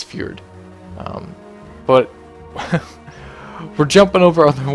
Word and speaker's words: Fjord: And one of the most liked comments on my last video was actually not pronouncing Howling Fjord right, or Fjord, or however you want to say it. I used to call it Forge because that's what I used to call it.